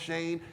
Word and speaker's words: Shan: E on my name there's no e on my name but it's still pronounced shame it happens daily right but